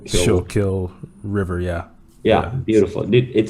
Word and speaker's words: Schuylkill: I don't know how to pronounce it exactly, but it's like Kill. Schuylkill River.